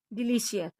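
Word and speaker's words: delicious: ओ यू D cloud P का अगला rule है पी के बाद आई ए या आई ओ आए तो सी का उच्चारण श होता है जैसे एस ओ सी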